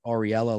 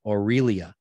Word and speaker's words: Aurelia: i'm butchering your name i said ariella last time but it's aurelia thank you aurelia for texting